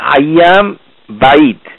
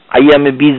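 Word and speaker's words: أيام البيض: হচ্ছে আইয়ামে বিদ বীজ, এটির আইয়াম বাইদ উচ্চারণ হবে বা ইয়া দাদ বাইদ, আইয়াম আল বাইদ বাইদ, বাইদা থেকে এসেছে শব্দ মানে সাদা, বাইদ মানে সাদা, এই এটাই দোয়াল্লিন জোয়াল্লিন কোম্পানির মাধ্যমে বাংলাদেশে এটা বীজ হয়ে গেছে। বীজ বলে কোনো এখানে কিছু নাই, আইয়ামে বীজ না, যারা উচ্চারণ শিখতে চান তাদের জন্য এটি রইল বোনাস।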